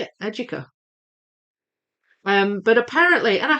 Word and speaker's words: Educa: It it's apparently it's if you say it in the Spanish way, it's Aduka.